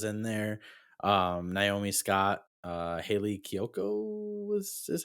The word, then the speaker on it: Kiyoko: Naomi Scott, Haley Kiyoko was is how you pronounce it.